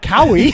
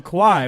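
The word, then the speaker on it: Kauai: I was like, it doesn't rhyme with Maui, right? It's not Cowie. No, it's Kawhi.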